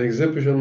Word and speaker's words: exhibition: مسرور exciting صار excited exciting exciting excited an exhibition معرض is silent an exhibition an exhibition a robot إنسان